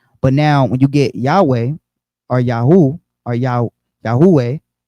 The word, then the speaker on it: Yahweh: Yahawah or Yahawah right so how do we get Yahawah which is three syllables Yahweh is two syllables so in the Greek it's two syllables Yahweh Yahoo Right.